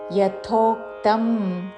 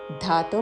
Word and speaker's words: యథోక్తం: ఉచ్చారణ ఏ తు ధర్మ్యామృతమిదం యథోక్తం యా పక్కన మహాప్రాణాక్షము థ యథో అని ధాతో పలకకూడదు యథోక్తం పర్యుపాసతే పర్యు పా